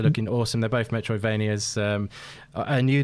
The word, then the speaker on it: Anew: Anu the Distant Light is that's spelled ANEW, the Distant Light, and that's